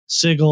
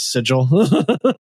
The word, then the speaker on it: sigil: Even Matt Mercer was guilty of this confusing how to pronounce sigle or sigil. Not even if you're referring to the city. Some people pronounce like the actual marking as sigle. It's like nope. It's sigil.